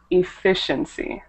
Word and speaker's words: efficiency: And then this one right here should be efficiency. The stress is on the second syllable.